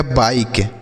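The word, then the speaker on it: bike: एक चीज़ आपको याद रखना है बच्चों कि अगर किसी शब्द के लास्ट में ई रहता है तो उसका उच्चारण हम नहीं करते हैं, उसे नहीं पढ़ते हैं।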